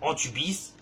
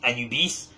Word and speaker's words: Anubis: qui n'existent pas vraiment, à savoir Antubis, alias par la suite Anubis, c'est juste que c'est mal prononcé, notre cher Anubis, dieu